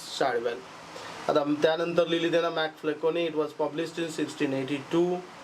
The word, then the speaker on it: MacFlecknoe: मॅकफ्लेकोनी. Spelling काय आहे बघा? MACFLECKNOE. मॅकफ्लेकोनी.